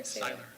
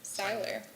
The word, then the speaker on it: Seiler: So currently, Mr., is it Seller or Saylor? Seiler. They have it spelled wrong Oh, it's spelled right, S-E-I-L-E-R, that's right.